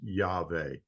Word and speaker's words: Yahweh: like to mention that I believe the proper pronunciation of the sacred name of God is Yahweh.